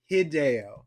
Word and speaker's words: Hideo: Hideo. Okay. It's a Japanese name. You're supposed to pronounce it phonetically.